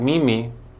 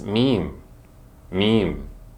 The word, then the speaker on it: meme: ready to hear it it's not me me it's meme meme this word follows the vowel consonant e rule where the E on